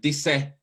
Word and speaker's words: disse: Remember that the accent is on D. I know that you want to do that rhythm, but it sounds like disse, disse, dal di che